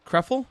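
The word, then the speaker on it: Krëfel: How do you spell that? Krefel, K-R-E with the 2 dots over it.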